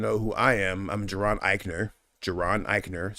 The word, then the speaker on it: Jaron Ikner: And then, in case you want to know who I am, I'm Geron Iikner.